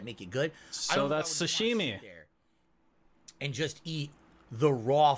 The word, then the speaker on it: sashimi: ] Tom Hanks man actual Sushi not sushimi like Sashimi or as I pronounced